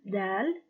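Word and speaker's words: دال: the pronunciation of that it is similar to the del of door it is named del and with the haircut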